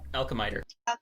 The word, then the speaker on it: Alchemiter: Alchemiter. That's me. Alchemitter. Okay, so we're going to have this fight. Is it meter or miter? Meter. I lost All right.